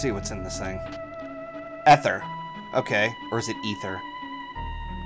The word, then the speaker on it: Ether: Ether. Okay, so it's pronounced with the long E instead of the short E.